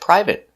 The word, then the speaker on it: private: we pronounce it separate today we're going to practice with these important words that end with a but are never verbs so they're always pronounced with the it short it sound like private certificate chocolate corporate and